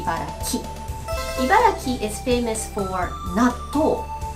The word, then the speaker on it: Ibaraki: Sometimes people say Ibaragi, but the correct way to say it is actually Ibaraki.